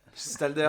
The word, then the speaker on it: Gstalder: Gestalder, ça se prononce, ouais, tu vois, je l'ai toujours mal prononcé.